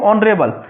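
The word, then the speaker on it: honourable: ऐसे ही देखो ऑनरेबल, इसमें एस साइलेंट है तो फिर भी इसका यूज होगा, ऑनेस्ट में।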